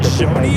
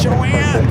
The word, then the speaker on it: Joanie: Joanie is the correct way to say your name. I noticed that when I watched the replay of the Tuesday night show. I was like, it's not Joanie, it's Joanie.